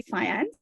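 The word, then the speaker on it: faience: turquoise beads are actually I'm going to pronounce probably fiance I think it's said fiance it's a type of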